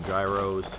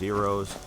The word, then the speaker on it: gyros: got the Euros which I still normally call Gyros because I'm not Greek and I say things wrong but I believe it's supposed to be pronounced Heros the fox over there